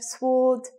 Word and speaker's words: sword: Sword, silent letter.